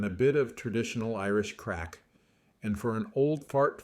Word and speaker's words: craic: bit of traditional Irish craic. And for an old fart full disclosure, that's spelled c r a i c. It sounds like drugs, but it just means fun, good music, and good company.